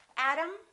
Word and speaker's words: Adam: same sound and remember T between two vowels sounds exactly like the D Adam Adam let's practice